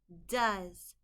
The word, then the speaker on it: does: Does, d-a-z, does. The O in this word is making a short U sound, and the ES in this word is making a Z sound, does.